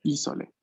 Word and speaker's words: isole: El acento está siempre en la primera sílaba. Atención, en italiano, muchas veces en las palabras que tienen tres sílabas, el acento recae en la primera, ¿no? Isole, isole.